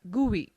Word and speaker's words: GUI: Windows is a graphical user interface GUI, pronounced as GUI, between a computer and its user.